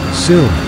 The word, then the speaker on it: Suhm: manufacturer since 1885 in our founding, Karl Suhm, pronounced Soom, immigrated to Houston, Texas, in 1885 to fulfill his passion for blacksmithing and metalworking.